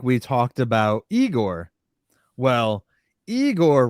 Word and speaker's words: Igor: Well, Igor rhymes with Seymour.